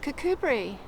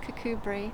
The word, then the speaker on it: Kirkcudbright: So, um, today we're in, um, a town in the west of southern Scotland called Cubri or Kurt Cutbrite. It's spelled Kirk Cutbrite, but it's pronounced Cubri.